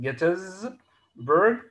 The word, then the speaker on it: Gettysburg: battle of gettysburg this is how it is pronounced gettysburg the battle of gettysburg the battle about which